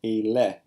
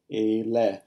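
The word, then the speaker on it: אלה: For the plural in Hebrew, there's just one form, just like in English, eleh. Eleh. Note that it is accented on the first syllable, so we will stress the first syllable.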